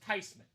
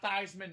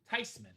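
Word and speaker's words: Theismann: She said, "No, it's actually pronounced Tyman." Not theman. Not Thyman. Not Thman. Tyman. Nice job, Jill. Jill Lovitz on that clean. Joe Tyman.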